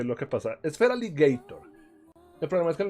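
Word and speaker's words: Feraligatr: Es Feraligator, el problema es que el nombre quedó Feraligater porque originalmente no, que estoy buscando play.pokemon Showdown Team Build, aquí está.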